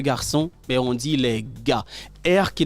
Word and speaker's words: gars: on dit les garçons mais on dit les gars qui n' garçon pas prononcé d'accord c'est les gars donc venez les